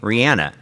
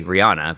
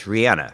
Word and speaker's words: Rihanna: Rihanna pronounces her name Rihanna. We all say, Americans say Rihanna, but it's Rihanna.